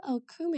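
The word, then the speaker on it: okoumé: there to where G is I wonder what okum is it's a it's an African place yes I believe okou it's spelled o k o u m e and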